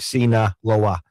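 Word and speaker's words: Sinaloa: Oh, he said it's just like Cena Loa Cena cartel.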